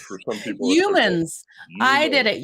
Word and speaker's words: Youmans: I know that's a difficult name to pronounce for some people. Youmans. I did Youmans. it, Youmans.